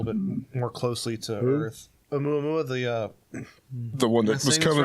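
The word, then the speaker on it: ʻOumuamua: Oumuamua, the one that was coming.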